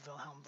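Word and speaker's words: Wilhelm: you don't need to know Vilhelm one's name I just wanted you to hear it pronounced because the WS are pronounced like these he is widely credited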